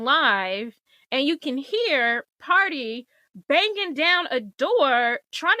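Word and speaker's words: Pardi: named party party it it's spelled p a r d i party Fontaine um all the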